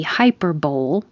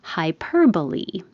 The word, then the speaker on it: hyperbole: This can be hyperbole. I heard that was more how it's pronounced in math world, but in the meaning of extreme exaggeration, it's pronounced totally different than it looks. Hyperbole.